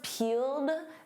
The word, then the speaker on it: peeled: And of course peeled. That e d is a soft d.